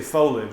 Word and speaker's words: foliage: But you also say foliage instead of foliage, which is foliage. 3 syllable versus Shortcuts.